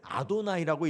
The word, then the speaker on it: 아도나이: 쓰기는 여호와라고 쓰지만 읽을 때는 아도나이라고 읽어야 돼요. 거룩한 하나님의 이름이기 때문에 여호와라고 못 읽고요, 아도나이 이렇게 불러요.